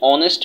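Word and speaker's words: honest: কথা যেমন দেখো এখানে বলা হয়েছে যে অ্যান অনেস্ট ম্যান অ্যান অনেস্ট এই যে এইচ এর উচ্চারণ তাইলে অনেস্ট হওয়ার কথা কিন্তু হনেস্ট হয় নাই অনেস্ট হইছে তার মানে এইচ তার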